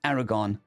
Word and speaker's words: 4R490RN: The team was led by 4R490RN pronounced Aragon, a Republican naval intelligence